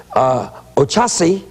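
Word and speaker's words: Oxaci: And he says, Ochasi, that's O-X-A-C-I, is St.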